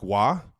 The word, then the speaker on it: Roy: I got Mark McGuire, I got Patrick Waugh, also known as Patrick Roy in the Kelce household, because Dad only pronounces things one way. his way, a la our last name.